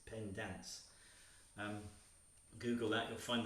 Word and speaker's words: Pendans: just if you just google pen dance and i should spell that it's p-e-n-d-a-n-s not dance it's pen dance um google that you'll